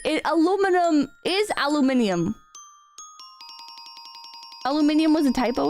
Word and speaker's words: aluminium: anal venal aluminum yeah like if you want to if you want to be casual I think aluminum is how you say aluminum right but when you want to be precise in your speech I think aluminium is the correct thing to say right because that's the proper term for it you